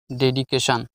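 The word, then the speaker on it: dedication: DE DID daddy, CAK ডেডিকে, TION Shaan, ডেডিকেশন অর্থ উৎসর্গলিপি।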